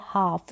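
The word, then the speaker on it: half: ए रहा है और ल को हम प्रोनाउंस नहीं करेंगे हम कफ और हाफ नहीं बोलते हम बोलते हैं कफ और हाफ सही उच्चारण यही है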